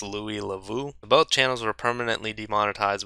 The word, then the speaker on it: Louis Le Vau: So the two YouTubers were Akkad Daily, and I believe this is pronounced Louis Lavu.